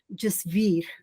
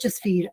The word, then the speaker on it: Jasveer: My name is pronounced Jasveer. You see, it's pronounced Jasveer, and it's a Sikh name, and there are two parts to it. The first part, Jas, is pronounced like justice, like just, injustice.